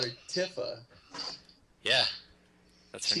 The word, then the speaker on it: Tifa: Anyway, it's still pronounced Tifa because that's how I've always pronounced it, so boom in your face.